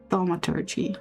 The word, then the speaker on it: thaumaturgy: Thaumaturgy. Okay, emphasis on the first part.